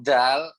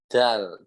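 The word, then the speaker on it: دال: Nah, ujung lidahnya itu ke tengah-tengah ini. Dal, seperti itu ya. So, aku ulangi. Dal, gitu, dal.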